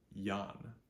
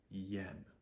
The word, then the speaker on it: ian: set up with this Ian is not pronounced Yan it is pronounced Yen e long e short